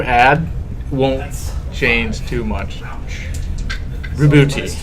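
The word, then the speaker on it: Roboute: It's Robute. I made 2 of them. Maybe? It is. That's what they've officially pronounced it as in some of their promotional work.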